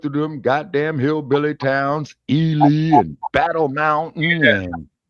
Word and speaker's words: Ely: Eli, yeah. E-L-Y, yeah. Yeah, they pronounce it Ely.